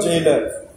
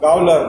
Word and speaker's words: gaoler: See the old spelling of jailer. How is it written? Gaoler. We may read it now as a gaoler, but G is pronounced both as J and G.